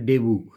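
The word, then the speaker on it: debut: এই জন্য যে ডেবু, DBU উচ্চারণটা ডেবু, এটা তোমরা করতে পারো।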